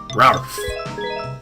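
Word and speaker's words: Rowlf: And my favourite character in the Muppets is Rolf the dog, which is spelled with a W, it's spelled R-O-W-L-F, Ralph the dog.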